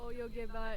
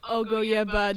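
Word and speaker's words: およげば: no the oh yeah i kept mispronouncing it as ogoyeba during recording and it it frustrated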